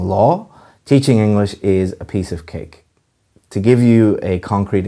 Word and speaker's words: piece of cake: And again, the pronunciation is a piece of cake. You're stressing piece rather than cake.